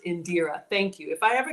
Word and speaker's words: Indira: She says it's pronounced Indira.